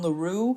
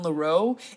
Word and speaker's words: Leroux: sorry if I say Loro throughout this video it is my intention to pronounce it correctly but the fact that it is Gaston laru and not Gaston loo is fighting against 32